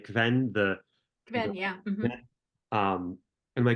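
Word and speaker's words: Qven: But I love all the political maneuvering around Reet and who he was, and am I pronouncing it right? Kven, Kven, yeah.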